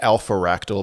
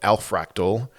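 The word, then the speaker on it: Alphractal: I've been pronouncing it wrong this whole time. Somebody in the comment section pointed that out to me. Not alpharactyl, but alfraal. I like alpharactyl better.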